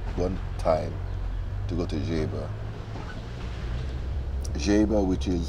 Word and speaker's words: Geba: road at one one time to go to jaiba jaiba which is spelled g-e-b-a the jaybird guinea-lesson very nice area